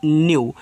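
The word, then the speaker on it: new: अब देखो यहां पे क्या आपका एन है तो एन से आधा ना फिर यू कर देना है तो एन ई डब्ल्यू आपका हो जाएगा न्यू और न्यू का मतलब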